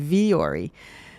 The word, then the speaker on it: Vuori: So why are we saying vori?